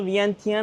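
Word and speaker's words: Viangchan: Có một thành phố ở Lào tên là Vienana. Phát âm là Vian Chan. Thực ra, đó là cách người dân địa phương gọi nó.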